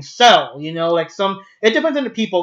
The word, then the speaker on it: Cell: And Cell is like Seru, but it's so fast that it sounds like you're saying Cell.